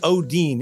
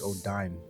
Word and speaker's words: Odin: So, so what I will say is Odin is on the council. I knew it was Odin is 100% on the council. It's time for a Jeremy touch base. Also, you pronounced it Odine previously.